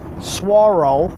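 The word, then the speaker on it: saguaro: you'll see these giants swaro I said it right at this time swaro cactus that's not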